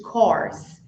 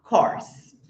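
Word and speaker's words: course: I'm taking an english corse E a outra é Curse maldição Então vamos repetir carse CSE é só lembrar do cavalo que é Horse o som aberto e aí você fala corse então corse Curse muito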